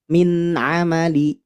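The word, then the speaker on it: مِنْ عَمَلِ: Qala hadza min amali min nun sukun bertemu huruf ain maka bacanya idhar. Min amali, min amali.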